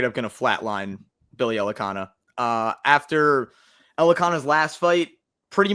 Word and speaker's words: Elekana: Ibo Aslan taking on Billy Elekana. I think that's how you pronounce that name. Yes, Elekana.